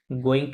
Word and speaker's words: goûts: pour tous les goûts, good না, এটা গু, পুখতুলে গু, হ্যাঁ, টি এস সাইলেন্ট, goûts, হ্যাঁ, তুলে গু, TS দুইটাই silent.